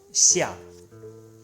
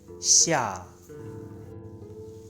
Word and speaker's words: 下: And number 6, 下, slowly, 下, means down, downside, downward. And the sound connection, shadow, 下.